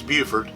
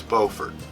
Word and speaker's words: Beaufort: from beaufort south carolina not to be confused with beaufort north carolina apparently they're spelled the same and they're both named after the right or the same person but one is beaufort and one is beaufort and they get mad if you call one the other one and